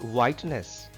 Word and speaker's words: whiteness: Just guess which letter is silent in the word whiteness. It is H. H is silent in whiteness. H is not pronounced in this word whiteness.